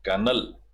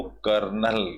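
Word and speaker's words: kernel: इट इज the very कनल कनेल कर कनल बोलते हैं इसको आर और एल साइलेंट होते हैं ई साइलेंट होता है तो इसको कर्नल बोलते हैं अ कर्नल का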